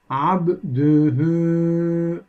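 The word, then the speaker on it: عبده: uzatılmadı hemen örneklerimiz geçiyoruz abduhu örneği bakınız arkadaşlar hu zamirinden önceki harfin harekesi var dal harfinin ötesi var bu durumda hu zamiri bir elif miktarı uzatılarak okunuyor yani sanki burada bir Meddi tabii varmış gibi uzatılarak okunuyor abdühü şeklinde diğer bir örneğimiz bakınız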